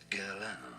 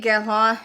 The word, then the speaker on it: Guerlain: In English, Guerlain. Guerlain. I'm trying. I did really truly Google the pronunciation.